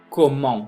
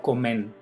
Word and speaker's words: comment: Et comment, no comen, ni coment.